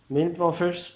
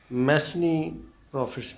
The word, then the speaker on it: mesne profits: Topic ہے مین پروفٹس۔ مین پروفٹس پر اکثر ہم کنفیوز رہتے ہیں کہ اس کے سپیلنگ کے لحاظ سے میسنی پروفٹس پڑھتے ہیں، لیکن نہیں، اس کا صحیح پروننسیشن مین پروفٹس ہے۔ مین پروفٹس کی